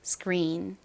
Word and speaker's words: screen: S의 바로 뒤에 키읔 소리가 왔죠. 이때 이 키읔 소리는 세게 좀 된 소리처럼 발음이 되는 경향이 있습니다. 그래서 스크가 아니라 스크 이렇게 발음이 됩니다. screen, screen. 그리고 R의 뒤에 모음이 왔잖아요. 이 경우 한국식으로는 린 이렇게 쓰는데요. 원어 발음은 린에 가깝게 발음이 됩니다.